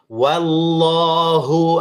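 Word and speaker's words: وَاللَّهُ: Wallahu a'lamu bi'ik wa kafa billahi waliyan wa kafa billahi nasir ya. Cara membacanya wallahu wa tetap a bukan o wahu ya tetap wallah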